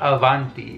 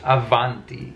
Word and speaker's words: avanti: labial proximate you know between the b and the v like there is in spanish but it's not avanti it's avanti i'm gonna train my